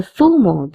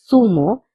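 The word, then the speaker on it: zumo: El fumo tomate pineapple juice elumo de pa notice that I'm saying fumo all the time but you can also say sumo because zed has the pronunciation of s also please remember zed has the pronunciation of the and s both in we pronounce zed as the and in Latin America we pronounce The zed as sir.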